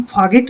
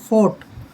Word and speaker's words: fought: जैसे ये है, इसको हम फागिट नहीं पढ़ेंगे, फाइट। फाइट होता है लड़ना। जैसे यहाँ पर ये शब्द है, इसको फोगट नहीं पढ़ेंगे, FOUGHT, फोगट, यानी कि GH साइलेंट रहेगा, इसको पढ़ेंगे हम फोर्ट।